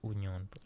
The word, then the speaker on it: Union: It's pronounced Union. Union. My bad. Time out. You There's have to 20 say it the teams.